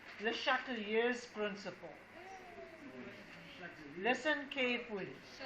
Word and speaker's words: Le Chatelier: It's called Le Chatelier's principle. Listen carefully. The way you pronounce it is Le Chatelier. Okay? Obviously, he must have been French.